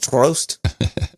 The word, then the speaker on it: Troost: name what's the last name how do you spell it t-r-o-o-s-t prost yes that's roast is that is that perfect for that i